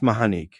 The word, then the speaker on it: Manik: The next solar glyph is called black manik pronounced mahanik.